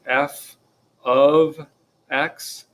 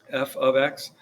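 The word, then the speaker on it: f(x): this kind of thing this does not mean multiplication that is not f times x the way that is pronounced is simply f of x f of x and that is just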